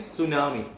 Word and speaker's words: tsunami: Tsunami is pronounced is tsunami, but the spelling T, yes, you should describe it here.